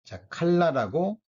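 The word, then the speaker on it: כָּלָה: 내 마음에 반석이시여 그랬는데이 쇠잔하다라고 번역된 원어는 칼라라고 발음이 되는데요이 뜻은 원래의 의미는 영어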